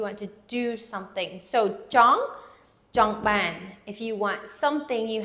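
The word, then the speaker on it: ចង់បាន: And the second part of it is ban. And again, the AH would say ah. Okay? Jong ban. Jong ban. And ban is the accented syllables.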